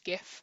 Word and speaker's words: GIF: is a gif now i realize that it is probably pronounced jiff correctly but as a british person jif makes me think of a cleaning product that is now called sif so i'm going to be pronouncing it gif so bear with me